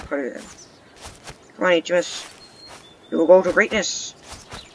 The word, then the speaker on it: Heamus: That's how you pronounce his name, HMS.